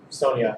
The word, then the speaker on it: Sonja: this video red Sona Sonia sorry I pronounced the J and you're not supposed to red Sonia number three